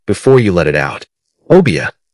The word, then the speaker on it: Obeah: Obia. Three syllables. Soft at the opening, firm in the middle, tapering at the end, like smoke rising from a fire that has been burning for a very long time.